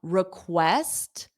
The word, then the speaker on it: request: Now, request, the syllable stress is on west. So this RE is unstressed.